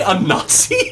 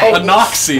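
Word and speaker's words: Inaxi: A Nazi. A Nazi. A Nazi. Maybe a Nazi. You might want to re-roll that name one time. You might want to randomize that again. Yes, rhymes with Tabaxi.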